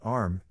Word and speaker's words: arm: Sure, it's an arm, Your Honor. He pronounced it arum.